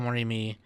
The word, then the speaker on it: Morimi: How do you pronounce his name? Morimi, there we go.